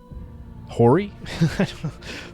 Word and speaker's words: hoary: declare against all power built on prejudices, however hoary?